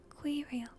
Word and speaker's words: Quirrell: Like squirrel without the quirrel. Quirrel. Okay, I'm just gonna say quirrel. He spotted Professor Quirrell too, the nervous young man from the leaky cauldron.